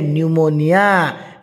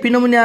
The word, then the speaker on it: pneumonia: ये जो न्यूमोनिया रोग ये न्यूमोनिया स्पेलिंग हो पी रु आरंभ PNEUMONIA न्यूमोनिया न्यूमोनिया न्यूमोनिया तुम कह आज्ञा ये तो पी अच्छी पिनोमोनिया हो ना ना सुनामी टी अच्छी